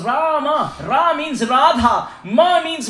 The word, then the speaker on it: Rama: Why the word Ram has 2 syllables?